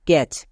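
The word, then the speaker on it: catch: করব একই রকম ভাবে মানে সি এইচ এর আগে টি থাকলে টি এর উচ্চারণ হয় না টি টা সাইলেন্ট যেমন দেখো ব্যাচ এখানে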